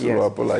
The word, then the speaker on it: Luapula: Yes, it's correct how I pronounce it. Yes, that's Luapula, yes.